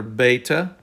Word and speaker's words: Beta: we have the letter beta the beta is pronounced like b as in boy then we have gamma